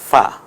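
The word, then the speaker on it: فاء: নাম হবে ফা ফা নিচের ঠোঁটের পেট এবং সামনের দাঁত মিলে উচ্চারণ হবে ফা মাখরাজ নিয়ে আমি এখন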